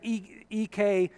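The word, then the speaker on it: ἐκ: On the second line, you see the letters EK, epsilon, and kappa, pronounced ek.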